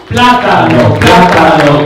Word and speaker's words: plátano: Plátano, kiwi. plátano, kiwi. La primera sílaba más fuerte.